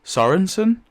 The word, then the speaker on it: Sorenson: but it's actually pronounced Sorenson.